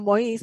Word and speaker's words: Moïse: Entonces, un buen amigo para que para aquellos de ustedes que conocen los nombres, bueno, no es Moisés, sino Moïse, porque es la pronunciación francesa de Moisés.